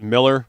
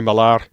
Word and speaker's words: Millar: Yeah, he does pronounce it Miller, but it looks like Millar. It looks like Millar. He's like, it sounds so posh when people say Millar.